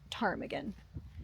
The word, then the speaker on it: ptarmigan: Chris just pointed out, as he usually corrects me, that the P is probably silent, so it might be pronounced ptarmigan.